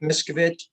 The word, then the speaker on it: Miskovich: It's Miskovich. It's spelled M-I-S-K-O-V as in Victor, I-C-H.